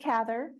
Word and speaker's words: Cather: She said that her name should be pronounced like the word lather That's, with a C.